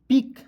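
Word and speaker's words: pick: पी आई से होता है पी। सी के हो जाएगा क। पिक। ठीक है? क्योंकि देखिए सी का भी क उच्चारण होता है और के का भी उच्चारण क होता है। ठीक है? इसलिए दोस्तों यहां पे सी को आपको साइलेंट कर लेते हैं।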